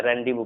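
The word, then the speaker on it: rendezvous: देखो Z generally silent नहीं होता है, लेकिन एक ऐसा वर्ड है जिसमें जेड साइलेंट होता है, इसे हम पढ़ते हैं रैंडी बुक, रैंडी बुक, जैसे जेड साइलेंट होता है, रेंडिवो पढ़ा जाता है इसे, रेंडिवो, ठीक है।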